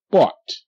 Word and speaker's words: bought: Bought. Bought. Bought. Okay, GH is silent, and the OU makes the owl sound, like her house, house, and mouse, mouse. But this OU is making the ah sound, like sa, ah, sa, and pa, ah, pa.